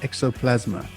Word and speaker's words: XOPlasma: podcast um this is roland from the band exoplasma is that correct yes that's correct okay i